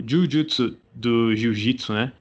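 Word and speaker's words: 呪術: Porque o Jujutsu do Jiu-Jitsu, né? O Ju, ele é prolongado, né? Uhum. No caso de Jujutsu Kaisen, não, é Jujutsu e na verdade significa, eu acho que é feiticeiro, né, feitiçaria, alguma coisa nesse sentido.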